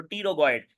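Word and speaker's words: pterygoid: उसके नीचे आएंगे तो टी रोगो इड ये पी साइलेंट होता है ये रोग इड ये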